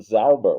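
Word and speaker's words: sauber: My ear couldn't distinguish that from Zauber with an S with no T at the front in the sound phonetically.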